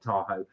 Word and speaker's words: Tahoe: Sorry, I should pronounce that Tahoe.